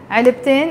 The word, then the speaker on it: علبتين: is one box, علبتين, you pronounce the T مربوطة when you add the N, علبتين is two boxes, so